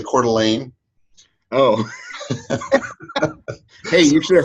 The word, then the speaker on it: Coeur d'Alene: And I'm sorry, John, I have to laugh every time you say Coeur d'Alene, because you say it like it looks, but it's actually Coeur d'Alene.